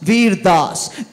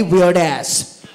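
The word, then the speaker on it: Vir Das: my name properly see my name is very simple it's vas vas Weir Das the entire country of America called me weird ass so it was time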